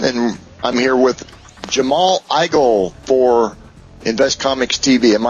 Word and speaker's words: Igle: is Rick Osman and I'm here with Jamal igel for invest Comics TV am I pronouncing that correctly Jamal you you got it